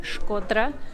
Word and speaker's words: Shkodra: We are in Shkodra, or as I will sometimes incorrectly say, Shkodër, because it's spelt with an E, and I can't say things differently than the way they're spelt.